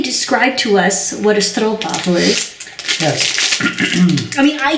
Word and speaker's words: stroopwafel: These are the stroopwafels. Notice again the Delfts Blauw theme here. Stroop. How does a Dutch person pronounce it properly?